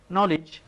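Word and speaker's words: knowledge: Right একটা অর্থ হচ্ছে সঠিক, আবার রাইট লিখো, এই দুইটার পার্থক্য হচ্ছে ডাব্লিউ দিয়ে, যদিও ডাব্লিউটা পড়া হচ্ছে নলেজ, সেখানে আমরা কে লিখি অথচ কেটার উচ্চারণ হচ্ছে না।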